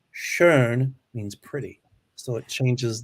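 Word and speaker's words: schön: if you put two dots over the o shern means pretty so it changes the the sound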